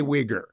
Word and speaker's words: Uyghur: How do you say Uyghur? Uyghur. Your pronunciation is perfect, Hugh.